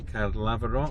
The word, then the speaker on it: Caerlaverock: pronouncing that castle name so i think you've got it right now haven't you card lava rock down there that's us in the grounds now kid lavrov castle it's a national